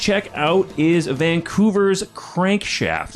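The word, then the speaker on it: CRNKSHFT: out is a vancouver's crankshaft it's pronounced crankshaft but it's spelled c-r-n-k-s-h-f-t current shift so maybe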